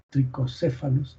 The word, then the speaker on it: trichocéfalos: Entonces, es importante que ustedes sepan que este gusanito se llama así, tricocéfalos, trichocéfalos se escribe, o trichuris trichura, que es este gusano en forma de cabello, de pelo, ¿no?